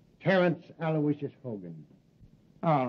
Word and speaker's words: Aloysius: Terrence Aloysius Hogan.